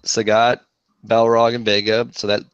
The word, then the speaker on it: Sagat: You could be Sagat. I think isn't that how you say it? I always said Saget. Bob Saget. Yeah, like Bob Saget. Like Bob Saget. But I think it's Sagat in there.